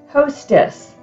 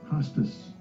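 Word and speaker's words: ὅστις: first word and uh this word in the greek is hostess now if you want to hear how it's pronounced because some of the words are hard to pronounce you're not sure they have a little speaker you can click on it and it will pronounce this greek word for you 3748 hostas hostas okay so see i was saying it wrong and so listening to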